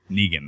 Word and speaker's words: Negan: Is it Negan? Negan. Negan. That's how it's pronounced.